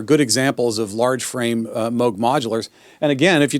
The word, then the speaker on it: Moog: It's pronounced Moog. It's not Moog.